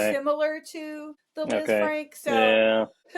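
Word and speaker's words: Lisfranc: And they compared it to the is it Liz Frank? Is that how you say it? Frank. Yeah. Yeah. Kind of a French name.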